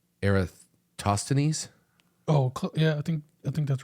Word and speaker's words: Eratosthenes: And I'm going to say this guy's name wrong. Yeah. He's a Greek mathematician, but it's Eratosthenes.